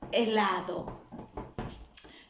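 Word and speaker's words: helado: stressing that vowel fabricas remember the rule the h is not pronounced at the beginning of a war so that's not hella is elado now for the ones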